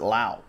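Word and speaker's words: Lowe: autograph right there and there's Nate lo he pronounces it lo his teammate Brandon pronounces it allow that goes to rob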